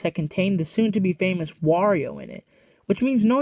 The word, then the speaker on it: Wario: This, and the fact that you pronounce Mario the same way, but with the W, should lead you to believe that the pronunciation is Wario. However, some are convinced that it's pronounced Worio.